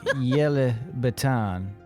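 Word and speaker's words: Ylebyt: her name yellow baton no it's yellow baton like y l e b y t say it like yellow B see the difference fair enough yeah some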